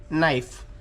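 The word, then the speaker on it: knife: सहा नंबर आहे नाईफ के एन आय एफ नाईफ म्हणजे काय नाईफ म्हणजे सुरी नाईफ मध्ये म्हणजे सायलेंट आहे तो आहे के आपण सायलेंट म्हणजे काय तो तो शब्द किंवा तो उच्चार किंवा ए बी सीडी मध्ये अल्फाबेट तो घेतला किंवा नाही घेतला तर उच्चार तोच होतो त्याला म्हणतात सायलेंट इथे बघा आता नाईप आहे एन आय एफ याच्या चा देखील उच्चार काय होतो नाईफ पण के आहे के हा एक आहे सायलेंट आहे तसच आहे नो नो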